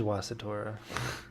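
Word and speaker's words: Wasitora: the dragon beast Dora wasit Ora wait oh yeah it is wasit aura it's another one that comes from Kanagawa okay you gotta kind of say it like that so it's a two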